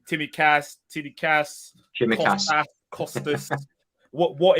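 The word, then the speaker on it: Tsimikas: bit of stick saying timmy cass tittie cass costas what what is it let us say i mean costas explains itself that's fine it's it's like the ts is pronounced at the same time so it's a c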